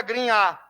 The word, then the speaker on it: Grignard: na verdade né beleza voltando a pronúncia em francês seria greenhard aqui que interessa que se aparecer escrito na tua prova compostos de grignard vamos escreve Ok vamos